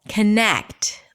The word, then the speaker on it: connect: It's the second syllable. Connect. Longer, louder, higher in pitch.